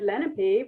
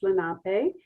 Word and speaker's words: Lenape: home of the well i'm not sure how to say it i always knew we always said lenape when i was growing up that i've also heard it pronounced lenape um peoples and there